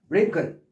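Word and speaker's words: wrinkle: 에 WR로 됐지만 이때 W는 발음하지 않고 링클 얼굴이나 옷이나 이런 것들의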